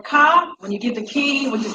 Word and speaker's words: ka: Now, the word K or Ka, when you get the key, which is K and Ka, Ka, which people say Ka, but it should be pronounced K, is defined as a